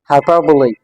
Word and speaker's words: hyperbole: ये जो आखिर में ई आया हुआ है, वन सेकेंड, हमारे पास इज साइलेंट नहीं है, ठीक है, नॉट साइलेंट.